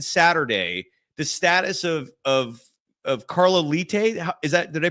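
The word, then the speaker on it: Leite: Because between now and Saturday, the status of Carla Lite, did I pronounce that correctly? Carla Late. Like Late, you're I just apologize. late for work.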